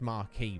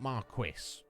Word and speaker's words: marquis: marquee hondura uh it's the pronunciation of that title is marquee right it's not marquis i don't know if like squidges there she would know i think it's marquee but even though they've